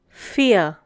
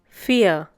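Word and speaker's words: vier: the next one is fear once again fear the pronunciation is similar to the English word fear the German V has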